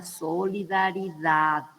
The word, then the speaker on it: solidaridad: Entonces, la palabra correcta en lengua española es la solidaridad, ¿verdad? Se tiene que escuchar la D final.